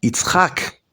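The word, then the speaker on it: יצחק: It's, vamos a pronunciarlo correctamente. It's hack, el que ríe de Hak.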